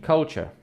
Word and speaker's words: culture: Pronunciation: culture. Culture. Yes. Different from this, okay? Okay. So there's cult and cute. So cult, culture. Cute, cuteness. So this is culture.